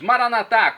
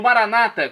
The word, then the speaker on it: Maranata: aramaico dialeto de Jesus maranat como dizemos nós católicos ou Maranata como dizem nossos irmãos separados os evangélicos ou protestantes não importa a pronúncia o significado é o mesmo vinde Senhor Jesus um